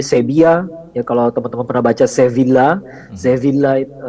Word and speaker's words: Sevilla: ya kalau teman-teman prabaca Sevilla zevin Lite kalau di Spanyol tuh V dibaca B ya double l dibacanya ia tasydid jadi sedia ya saya biak Cordoba kurtubah